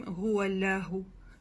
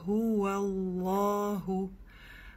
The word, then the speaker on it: هو الله: Поэтому не говорим гуаляху, а гуаллаху. Плюс обратите внимание, что над лям у нас есть удвоение.